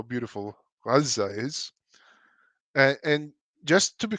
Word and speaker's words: Gaza: Gaza. It's so stupid. By the way, does anybody know why they produce it as Gaza and not Gaza? Because there's no ga in Arabic.